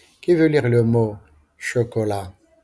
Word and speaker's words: chocolat: veut lire le mot chocolat je ne prononce pas t lisez silencieusement les mots